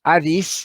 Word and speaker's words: Hades: go the grave otherwise known in greek as adis that's the modern greek pronunciation or hades nothing going on there